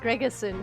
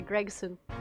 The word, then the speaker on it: Gregson: I feel like you're inserting an extra syllable. Gregerson, say Gregson.